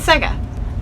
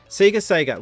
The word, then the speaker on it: Sega: So when it became a Japanese company, the letters SE and GA do not get pronounced that way in Japan, so they converted it over to Sega.